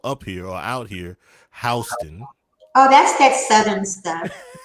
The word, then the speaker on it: Houston: Of course, it's spelled like Houston, but it's pronounced down here, or up here, or out here, Houston.